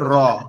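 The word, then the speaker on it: راء: minute একটু কথা শুনেন র অক্ষরটা আমাদের জিউবার আগার উল্টা পিঠ জিউবার আগার এই যে জিহ্বাটা এর আগার উল্টা পিঠ জি এই উল্টা অংশটা উপরের যে তালু আছে অর্থাৎ এই যে আমাদের জিহ্বার সাইড নিচে উপরের যে অংশটা আছে এইখানে লাগি একটু কম্পন মতন মানে কেপে কেপে উচ্চারণ হবে র র র র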